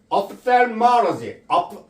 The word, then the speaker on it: ophthalmology: 자, ophthalmology. pH는 F 발음이에요.